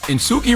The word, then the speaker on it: Suki: And Suki rhyme with Dookie.